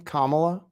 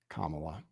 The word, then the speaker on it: Kamala: Kamala? Like comma, right? Kamala.